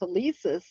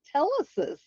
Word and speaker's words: Telesis: It was in the dictionary, but I saw that it wasn't pronounced telesis. He was mispronouncing it. It was telesis.